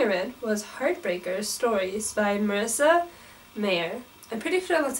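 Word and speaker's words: Marissa Meyer: you say her name her name is spelled very interestingly and i kept forgetting how to spot but i'm pretty sure it's just marissa mayer i heard about it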